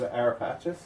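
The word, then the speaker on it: Ara Pacis: In French, it's AraPacis. AraPacis. In English, it's AraPacis.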